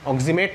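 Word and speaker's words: oximato: এবার গ্লাইঅক্সিম থেকে যখন অ্যানায়ন তৈরি হয় আমরা বলি অক্সিমেট আয়ন। এবার সেটা লিগ্যান্ড হিসেবে যখন উচ্চারণ হয় তখন অক্সিমেটটা লাস্টে ইটা চলে গিয়ে ও চলে আসে, অক্সিমেটো।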